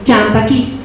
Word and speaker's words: champaquí: Nosotros aquí lo pronunciamos champaqui, oración, rasquetita.